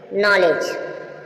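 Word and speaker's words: knowledge: जी से पहले डी आए तो क्या है साइलेंट है अब देखेंगे नॉलेज नॉलेज देखा आपने नॉलेज य भी ही हुआ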